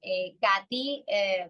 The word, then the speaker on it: Katy: Katy, that's how you pronounce it in Spanish. Oh, but Katie is fine as well.